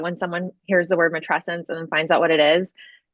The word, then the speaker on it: Matrescence: I say Matrescence, but I think it's could go either way.